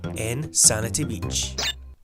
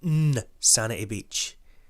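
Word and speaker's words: N. Sanity Beach: we go for the first level inanity Beach or I think it's actually pronounced n sanity Beach okay controls you use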